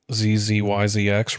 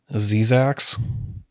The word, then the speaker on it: Zzyzx: And for a long time, I thought it was just pronounced ZZYZX Road. But I've been told by other people that it's actually pronounced Zizax.